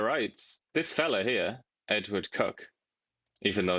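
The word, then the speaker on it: Edward Coke: This fella here, Edward Cook, even though his name looks like it's Cork, but for some reason, as is typical in England, it's pronounced Cook.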